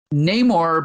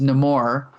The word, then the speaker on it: Namor: of vibranium and it happens to be um Neymar but in this movie it's pronounced nemour uh the Submariner character from Marvel Comics who